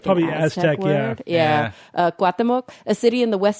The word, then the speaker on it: Cuauhtémoc: Cuauhtémoc, a city in the west central part of the Mexican state of Chihuahua.